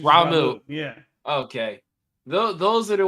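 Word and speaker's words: Ramuh: and uh the ramu I can't say his name right but ramu ramill ah ramu I think it's actually ramu yeah okay those are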